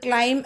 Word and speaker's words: climb: നമ്മൾ കയറുക എന്നുള്ളത് ക്ലൈം എന്ന് പഠിച്ചില്ലേ, അതിന്റെ സ്പെല്ലിംഗ് എന്തായിരുന്നു? CLIMB. പക്ഷെ നമ്മൾ B സൈലന്റ് ആയി അവിടെ ഇരിക്കുകയായിരുന്നു അല്ലേ, അതുപോലെ തന്നെ ഇവിടെയും B സൈലന്റ് ആണ്.